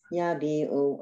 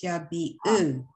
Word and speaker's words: Yabi'u: It's not Yabiyu, it's Yabiyu. Yeah, you see that straight line at the metab? That means that's where you put the stress.